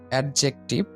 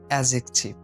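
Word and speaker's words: adjective: এটা আমরা উচ্চারণ করি অ্যাডজেক্টিভ, অ্যাডজেক্টিভ। তো এটার সঠিক উচ্চারণ হবে অ্যাজেকটিভ, অ্যাজেকটিভ, অ্যাজেকটিভ, অ্যাজেকটিভ, অ্যাজেকটিভ।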